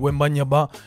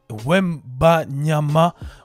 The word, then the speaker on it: Wembanyama: Deuxième news de la semaine concerne Wemby, le prodige de NBA français, qui est l'athlète Victor Wembanyama. Wembanyama. Voilà, je crois que j'ai mal prononcé son nom.